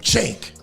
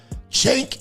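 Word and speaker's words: Cenk: Now, if you don't know who that is, that is a man named Chank. C E N K. Chank.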